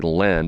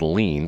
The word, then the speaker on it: Lehn: So once again, Ryan, Lehn, I think he pronounces it, I would say Len, but he says I think it's Lean, Ryan Lean.